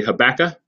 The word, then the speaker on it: Habakkuk: how to pronounce it in the South we say hey Becca I think the farther south you go the less of a K there is on the end of it so you might hear